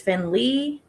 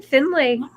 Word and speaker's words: Finlay: This says it's pronounced exactly like it's spelled with an emphasis on the fin and a clear lei at the end. Okay. Some people may pronounce it as Finn Lee, but the author and